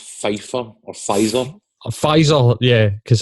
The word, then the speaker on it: Pfizer: I think it's pronounced Pfizer or Pfizer.